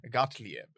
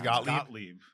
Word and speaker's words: Gottlieb: the head of the MK Ultra experiment, Sidney Gottlieb. Okay. I'm probably pronouncing that wrong. Gottlieb, yeah. Or Gottlieb. I don't know how to pronounce that. I think it's Gottlieb.